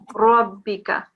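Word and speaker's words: رَبِّكَ: And then here, how would you pronounce this word here? In a thick way. Yeah, pronounce it. ربك. Rabbika.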